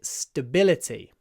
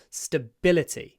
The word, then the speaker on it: stability: Now here the stress, like in стабильность, is on the second syllable. Stability. Stability. We can't stretch a but, so we do a little pause. Stability. Stability. With a pause.